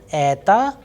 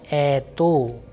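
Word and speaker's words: это: is under stress and the unstressed vowel is o that is why why i am pronouncing ether and not ato because simple because of the vowels rule that once the stress is falling onto a the next vowel which is o will sound like ah so a short weak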